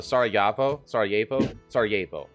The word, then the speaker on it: Sarajevo: Sarajevo is pronounced with the Y where the J is. So Sarajevo.